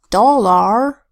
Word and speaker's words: dollar: what that is but the proper pronunciation of dollar is dollar wizard here the eye is a short I sound it which makes makes it's expected sound what it this is wins in the second syllable the AR does not say R instead the a becomes a schwa a aa which combined with the are that says it's still a our